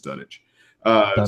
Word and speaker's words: Dunwich: it's it's it's like it's like Greenwich right reddit grin wit green which is Greenwich I guess I think done which I believe is done it so free witchcraft Museum